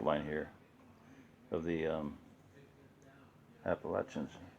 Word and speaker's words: Appalachian: here of the um appalachians appalachians if you want to say it correctly appalachian mountain is pronouncing it okay appalachian people say appalachian okay so that is